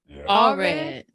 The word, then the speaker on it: Allred: and motivational speaker, Lance Allred. Yeah, you said it right. No, sometimes people, it sounds like it looks, you know.